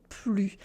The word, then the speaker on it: plus: On va où ils vont plus. And plus does not have an S sound because it means not anymore.